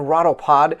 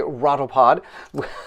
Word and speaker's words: Rotopod: our herb crossbow and rotopod which i was pronouncing incorrectly it's a rattle pod i pronounced so many